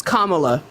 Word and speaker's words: Kamala: It's Kamala. Comma is a word in the English language. You can say Kamala.